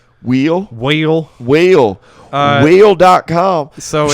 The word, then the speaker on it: Will: It was I know somebody's a redneck if they say my name with 2 syllables. Wheel?